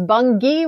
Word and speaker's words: Bungie: It is not. It is Bungie with a hard G.